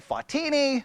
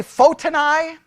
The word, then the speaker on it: Photini: Now there's debates depending on who you listen to and how to actually say her name. I say Photini. Sometimes I will say Fotini, but Photini seems to be the best way. Some say Photini. I say Photini. That's what I'm going with because I'm in Texas and we're right.